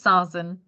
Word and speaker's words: Sazan: Is it Sazan? How do you pronounce it? It's Sazan.